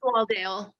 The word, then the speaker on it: Swaledale: And those include I don't know if you say Swaldale or Swaledale. Do you know, Catherine, by any chance? If it's what the I believe pronunciation of it's Swaldale.